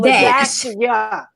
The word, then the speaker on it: Ladashia: I didn't know that the dash I supposed to say dash. So Ladashia.